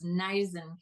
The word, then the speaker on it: Neisen: And forgive me for mispronouncing your your name. It's Naisen Consulting.